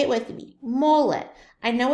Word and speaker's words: mole: there's one of our words now this is Mollet say it with me mullet I know it's spelt mole but it's actually pronounced mullet a